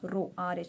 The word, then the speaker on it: rho: but elongated s but while you are pronouncing you need to tell it as row rho clear now this